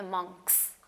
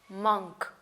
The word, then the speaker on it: monk: उनको हम कहते हैं मॉन्क्स। Now again see हाउ आई am pronouncing it, नॉट मॉन्क, मंक, मंक, इसी तरह मंकी, मंकी, यानी ओ की आवाज़ थोड़ी सी शॉर्ट हो गई, right, so that is वाई monkey, monkey, monk, monk।